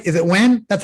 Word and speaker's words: Nguyen: Did I pronounce that right? Is it Nguyen? That's how you say it, right? Close. Yeah. It's Nguyen.